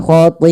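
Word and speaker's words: خَطِيئَتُهُ: Kemudian panjangkan pada lafal ti'atuhu, karena pada lafal ti di sini awalnya dia mad tabi'i. Karena bertemu dengan hamzah dan hamzah tersebut pada satu kata, maka kita membacanya dengan bacaan hukum mad wajib muttasil. Mad wajib muttasil adalah mad yang terjadi disebabkan karena adanya hamzah yang terletak setelah huruf mad.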